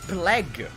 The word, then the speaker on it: plague: because I don't know I thought plague would pronounced plague he said it's plag because I guess the a is pronounced a so I guess PL and you don't pronounce the U the U so Plague i you think